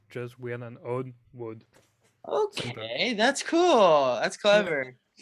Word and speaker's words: WODD: And Yeah, but for listen, explain it's like the word weird and the word odd together, like just weird and odd, wood.